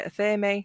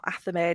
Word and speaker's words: athame: Your black handled knife is commonly called your athame or athame, depending on how people pronounce it.